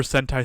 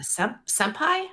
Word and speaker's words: Sentai: Speaking of Power Rangers, we will be doing Super Sentai Saturday later tonight in the Discord, if anyone wants to join. Super Senpai? Sentai. Sentai. Is that? Can I actually? That rhymes with a word that's hentai?